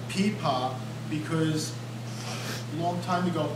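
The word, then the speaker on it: pipa: is called the paa it's spelled p i p a okay and it's a Chinese instrument and and it's called peepa because a long time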